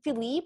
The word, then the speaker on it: Philippe: sleep arrives is it philippe or phillip it's philip it's spelled philippe it's a very fancy spelling but it's just pronounced philip so philip arrives on